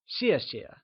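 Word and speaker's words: 谢谢: away so it becomes xie xie let's try and say xie xie once again it is said with a falling tone like xie xie since thanks translates to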